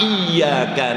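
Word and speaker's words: إِيَّاكَ: na'budu wa iyyaka nastain kalau kita baca siddanya jelas iyaka cara membacanya kan e gigi depan kita itu menginjak pada pertengahan lidah Kita Sementara ujung lidah kita kita tekuk ke dalam iyaka na'budu wa iyaka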